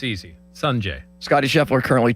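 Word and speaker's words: Sungjae: I did not want to try to pronounce Im's first name and botch it. Sanjay M. Yeah, it's easy. Sanjay.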